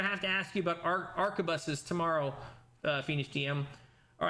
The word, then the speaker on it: arquebus: The Arbacus. No, I'm saying it wrong. Arquebus.